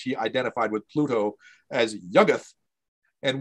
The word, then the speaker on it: Yuggoth: identified with Pluto as Yuggoth. And we think that is how it's pronounced because it appears in verse and you're forced by the meter to pronounce it as Yuggoth, not Yuggoth or whatever.